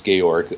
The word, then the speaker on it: Georg: very pleased to hear you properly pronounce gorg uh We've took some heat for calling him George Luger in a in a